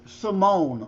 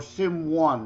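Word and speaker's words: S1m0ne: Yeah, my favorite Pacino movies still are Scent of a Woman and shoot, I'm drawing a blank with Simone or Sim 1, however you wish to pronounce it.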